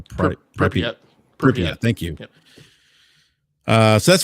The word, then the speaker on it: Pripyat: Sky, and Call of Pripyat. I don't know if I'm pronouncing that correct, or Pripyat.